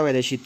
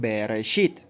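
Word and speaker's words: בראשית: Ahora aquí en la palabra Bereshit tenemos estas tres frases que dicen bar, que se puso como bara, o sea, bar, shit, bar, shit, así se pronuncia separado, pero juntas son Bereshit.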